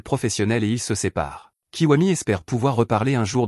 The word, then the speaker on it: Kiwami: Son nom s'écrit Gakudo, mais il se présente et explique qu'il se prononce Kiwami.